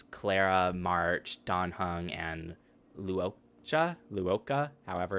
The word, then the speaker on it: Luocha: The name's Luocha. Luocha. I'm a traveling merchant, merely passing through. The name's Luocha. Locha. Locha? Locha. That's how he pronounced it. Okay, Locha.